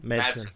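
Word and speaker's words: Madsen: Um, the other part is Michael Mattis, how do you say his name? Madson.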